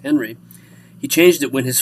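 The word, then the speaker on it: Henri: the French on Glee he changed the spelling but not the pronunciation that's still pronounced Henry he changed it when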